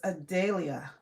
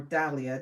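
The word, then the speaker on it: dahlia: This is Adelia or Dalia, depending on how you pronounce it.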